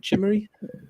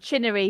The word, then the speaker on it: Chinnery: Chimneries, is that how you pronounce it? Chimnery? Chinnery with an N.